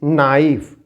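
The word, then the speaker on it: knife: no year it इज नाइफ इट इज नाइफ यर के silent so it will be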